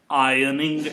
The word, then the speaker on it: ironing: I'm sorry, we do not pronounce R. So we say ironing it, right?